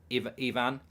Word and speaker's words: Ivan: By the way, it's pronounced Ivan.